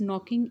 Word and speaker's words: knocking: She is knocking at the door. इसमें के silent letter है.